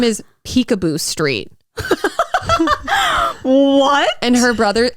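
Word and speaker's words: Picabo: first name in there it's spelled p-i-c-a-b-o i know oh i know but like pronounced peek-a-boo street like we were watching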